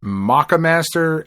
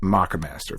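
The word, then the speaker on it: Moccamaster: I've heard it pronounced the maca master and I've heard it pronounced the mocha master. It's m occa. So to me that is uh that is maca master but whatever.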